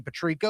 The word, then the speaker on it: Patrico: My name is Patrico. You spell that P A T R I C O baby.